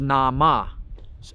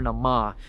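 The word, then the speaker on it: Naama: name in that Community the name that they called her in the Puritan community and to this day is nama n a a m a i actually asked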